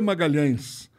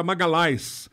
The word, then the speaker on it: Magalhães: nome é Sidney de Magalhães eo Magalhães na Itália não é pronunciado LH não existe então era Magali a Magali esmagá-las não existe nada